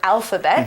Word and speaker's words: alphabet: let's learn a little bit about this word alphabet it's spelled a l p h a b e